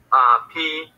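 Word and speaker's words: π: Pi. Pi, right? Yeah. So we were going to pronounce it P though, which is easy to remember because it's like our alphabet.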